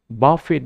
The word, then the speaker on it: buffet: এইটো লাষ্ট লেটাৰ টিটো সাইলেন্ট নহ'ব। এইটো বাফেট বুলি এইটো প্ৰনাউন্স কৰা হয় যেতিয়া আমি ভাৰ্ব হিচাপে ব্যৱহাৰ কৰোঁ।